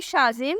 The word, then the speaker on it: Shazim: पहला नाम है शाजिम। स्पेलिंग है SHAZIM।